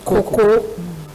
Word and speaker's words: cocoa: waves export Duty on Cocoa Coco is a Nigerian pronunciation Echo Bank writes First